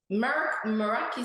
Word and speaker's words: Meraki: it's a it's a Greek name and it's pronounced okay Meraki sorry that's what we pronounce it at and